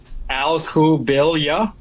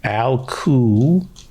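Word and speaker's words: Alcubilla: So for some reason, our family pronounces that one L, whereas a lot of people, they don't. The two L's become a Y.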